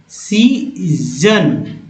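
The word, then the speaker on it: season: सन नहीं, सीजन, यानी कि एस को यहाँ पर ज उच्चारण किया गया, उच्चारण ज हुआ।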